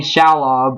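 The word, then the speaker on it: Shalhoub: then next one is Tony Shob I think that's how his last name is pronounced as Splinter yeah he is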